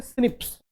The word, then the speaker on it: SNP: SNP को pronounce करते हैं सिप्स।